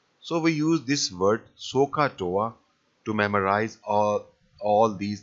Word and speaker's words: SOHCAHTOA: is so so uh so so so hot sohcahtoa so it is it is pronounced like this so ha Toa so so